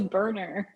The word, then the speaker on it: Boerner: i butchered it sorry it is burner not what you would expect okay burner okay thank